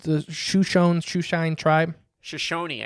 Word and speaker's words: Shoshone: shushon's shoe shine tribe Shoshone I think is that how you say it yeah I think it's Shoshone that's s-h-o-s-h-o-n-e yeah Shoshone Shoshone sorry everybody you